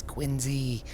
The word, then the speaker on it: Quincy: Quincy and and Boston it's quiny say it like a local I am local Wicked